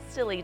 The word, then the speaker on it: Scilly: And then it tells me what I have, and of course what I bought was called Scilly Daffs. And it's actually spelled silly, like S-I-L-L-Y, but it's spelled S-C-I-L-L-I.